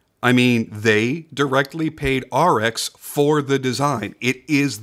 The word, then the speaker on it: Arex: now for those unaware it is pronounced RX like the letters RX not a Rex I say this because